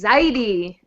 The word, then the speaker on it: Zaidi: It's Zaidi. You have to get past Yiddish pronunciation, man. Come on.